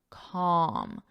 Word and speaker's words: calm: so notice this pronunciation the L is silent it's calm M arm calm calm did little to calm